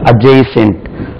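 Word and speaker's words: adjacent: hospital ஹாஸ்பிட்டலுக்கு பக்கத்தில் இருக்கிறது அஜய்சென்ட் அட்ஜசென்ட் எப்படி ஆகும் வேர்ட்ஸ் இப்படி ஒரு கிட்டத்தட்ட ஒரு ஒரு எப்படியும் ஒரு 50 வேர்ட்ஸ்க்கு மேல இருக்கு டிக்கு பக்கத்தில் ஜே வந்தாலும் சரி ஜி வந்தாலும் சரி டி உச்சரிக்க கூடாது ஓகே காமன்லி யூ கேன்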